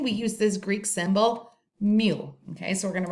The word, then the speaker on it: mu: call the mean we i call it mu okay m u is how you say it mu it is a greek letter and when we're talking